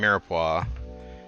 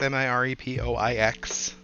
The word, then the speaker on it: mirepoix: trinity is i mean mirpo of course is french it's a nice french word spelled with a bunch of extra vowels and an x that you wouldn't be able to hear in there if you didn't know i think i think